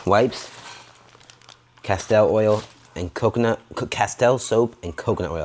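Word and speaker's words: Castile: Castell oil and coconut castell soap and coconut oil. I said it wrong in our video. It's castell, not castor.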